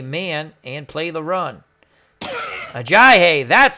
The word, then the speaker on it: Ajayi: Ajayi, that's how you pronounce his name, is tackled by White.